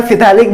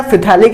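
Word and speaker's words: phthalic: आइसोफिथैलिक, या मैं तो यार फिथैलिक बोलने की आदत है मेरी, लेकिन वैसे पी साइलेंट है, ठीक है ना, आइसोफिथैलिक एसिड, ठीक है।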